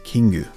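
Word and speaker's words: キング: Magikarp is known as Koi Kingu in Japanese, which obviously comes from the koi fish and the Japanese pronunciation of king, which is Kingu.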